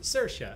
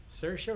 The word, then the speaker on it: Saoirse: book yeah it's beautiful it rhymes with inertia as she says surgeons Saoirse inertia Saoirse Ronan thank you I